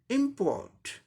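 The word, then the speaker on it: import: इसका अमेरिकन क्या हो जाएगा? सब सेम होगा, सिर्फ आर, आर का रॉ साउंड आ जाएगा यहाँ पर, क्योंकि अमेरिकन इंग्लिश प्रोनाउंसिएशन में आर का रॉ साउंड किसी हाल में कहीं भी साइलेंट नहीं होता है, कहीं भी हम ओमिट नहीं करते हैं, इसका उच्चारण होता है ना। रॉ का, आर का रॉ आता है, थोड़ा सप्रेस करके बोलना पड़ता है, जैसे कि इम्पोर्ट, इम्पोर्ट,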